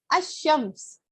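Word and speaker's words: الشمس: Means यहाँ पे शुरू में लाम की साउंड है ना, तो अगर हम यहाँ पे इसको प्रोनाउंस करते हैं अशम्स, तो लाम की यहाँ पे हमें साउंड नहीं मिल रही।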